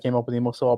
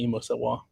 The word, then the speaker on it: EmoséwA: And then se is really more like you're saying say.